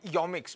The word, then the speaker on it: Yomics: least 10 people and they all pronounced it yomix but who they chooses